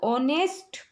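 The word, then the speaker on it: honest: देखिए मी नी इसे ऑनेस्ट परसों अब यहां पर हा है लेकिन हा साइलेंट है इसको ऑनेस्ट नहीं ऑनेस्ट पढ़ेंगे और ऑनेस्ट जब हम बोलते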